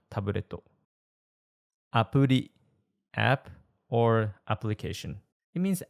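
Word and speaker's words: アプリ: It sounds kind of like the American T in better or butter. If you speak Spanish, it's like the soft R in rico, so it's pronounced appuri.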